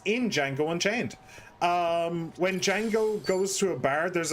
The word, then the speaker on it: Django: Well, what I remember is that Django says like the D is silent.